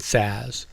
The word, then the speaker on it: SaaS: The first three are pronounced IaaS, PaaS, and SaaS.